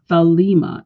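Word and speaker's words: thelema: Greek writings um is thalma t h e l e m a and the E after the L is a long e so is thalma it is a Greek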